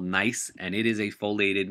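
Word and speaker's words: gneiss: be called n or nice um you don't pronounce the G so it's called nice and it is a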